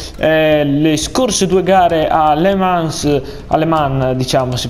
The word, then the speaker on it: Le Mans: Io sono Onda d'Urto e dopo le scorse due gare a Le Mans, diciamo, si pronuncia così, con la Ducati e poi ad Assen con l'Aprilia, oggi andremo a correre a Losail e al Mugello.